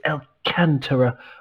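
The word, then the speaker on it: Alcântara: important doug alcantara the the accent is on the second syllable a the second a so it's alcantara i believe but i'm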